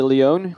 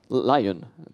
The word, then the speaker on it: Lyon: comes from the sunny Leone in southern France where in Leon Leon I mean how do you say the only English in English I say Lyon so he will talk